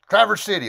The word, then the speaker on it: Traverse City: This is not Traverse City as it's spelled. They say Traverse City. Traverse City, like one word.